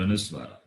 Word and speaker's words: Anuswara: That is the letter A with the bindu, but the bindu is called Anuswara. That is pronounced as Anuswara as a sound of that sound.